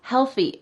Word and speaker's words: healthy: Healthy. This combines two tricky points together. We have the L and the TH together. And a common mistake I see with the TH is changing it into an S.